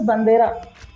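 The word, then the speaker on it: bandeira: flags in Portuguese is pronounced as bandera, I right?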